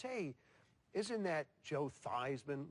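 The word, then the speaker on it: Theismann: we think just by changing the pronunciation of your last name from thian to thyman to rhyme with he we can get you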